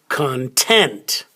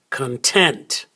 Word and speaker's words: content: syllable this one is content content so the stress is on the second syllable content content now this